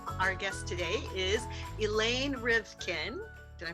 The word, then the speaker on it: Rivkin: entertainment industry experts Our Guest today is elain rivkin did I pronounce that right you did hello y okay